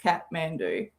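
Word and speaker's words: Kathmandu: in the world kj is oh kj it's pronounced katmandu i have oh yeah secondhand embarrassment stun like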